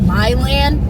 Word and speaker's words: Milan: upstate new york so it's probably pronounced my land that's where i live